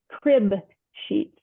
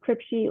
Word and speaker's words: crib sheet: Crib sheet. For years, I thought it was crib sheet, like like a crypt keeper, but it's not. It's a crib sheet with a B.